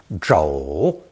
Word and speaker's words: 肘: This character is pronounced third tone, 肘, 肘.